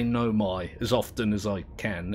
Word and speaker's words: Nomai: My inclination is to say Nome. But it's the AI on the end of it that throws me off. Apparently it's Nomai. So, I'm going to say Nomai as often as I can anyway.